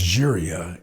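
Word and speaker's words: Llíria: to host celebrating the city of Lyria or that's pronounced Jeria in Spain who were uh designated a UNESCO city of music.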